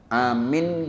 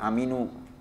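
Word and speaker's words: آمِنْ: Amin bi rabbika, itu bacanya amin, jangan aminu. Nunnya dimatikan.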